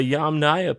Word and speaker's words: Yamnaya: yum okay so the the yamnaya people not yum yeah that's them and